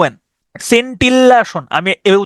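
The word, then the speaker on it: scintillation: টি আই ও এন সিন্টিল্লাসন আমি এভাবে উচ্চারণ করতাম এস সিন্টি সিন্টিল্লাসন আমি এভাবে উচ্চারণ করতাম হ্যাঁ এস সিন টিল্লাসন সিন্টিলেশন সিন্টিলেশন মানে হচ্ছে দেখবেন ওই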